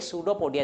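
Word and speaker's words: pseudopodia: अब बेटा यहाँ पे पी साइलेंट है, पर सूडो है ना, पोडिया कहने लगो तो ये सूडोपोडिया इसको बोला जाएगा, पी साइलेंट रहता है।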